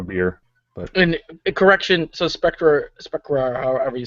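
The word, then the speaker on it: Sprecher: But interestingly enough, according to a rebuttal, because they're going after a brewery called Spectra, S-P-R-E-C-H. No, there's no T in it. Spectra, S-P-R-E-C-H-E-R.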